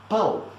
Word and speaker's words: pão: Just remember, pão is nothing but pound without the ND. So everybody, pão.